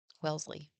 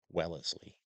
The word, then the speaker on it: Wellesley: Welsley. Wellesley. Add an extra syllable when there doesn't need to be.